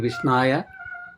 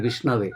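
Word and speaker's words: विष्णवे: They say Murkho vadati Vishnaya, Dhiro vadati Vishnave. Vishnaya is wrong. Murkha means ignorant. Ignorant says wrong word, Vishnaya. Dhiro vadati. And the knowledgeable people, they say Vishnave, which is right.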